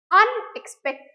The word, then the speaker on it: unexpected: Next you have expensive, interesting, unexpected, unexceptional. So when you say the word unexpected, expected bolle ami jani, but when you are telling unexpected, so your stress is on the word unexpected.